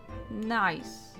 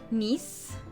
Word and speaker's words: Nice: greater russo family from nice that's not going that's not pronounced nice is it if it's in france nice i don't speak french i'm just going to call it nice i don't care and